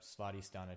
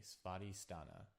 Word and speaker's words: Svadhisthana: duck.go or Google or whatever and look up spotty stana chakra. So it's spelled s v a d h i s t h a n a spotty stana and then chakra c h a k a.